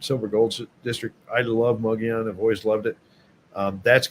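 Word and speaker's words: Mogollon: One's called Mugion, which is uh it doesn't look like it's spelled that way, but it's Mugon is how you say it.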